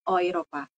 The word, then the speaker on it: Europa: ada yang in enggak Europa tulisannya ya Europa di sini dalam bahasa sa Jerman kita bacanya jadi oopa begituun dengan e mata uang